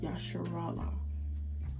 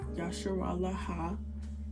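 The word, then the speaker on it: ישראל: Understand that this word is pronounced yasharala, not yasharala ha, yasharala. This is just used at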